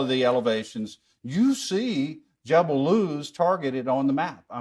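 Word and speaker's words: Jebel al-Lawz: that she mentions and Jebel laws or jeble L as it's properly pronounced is one of the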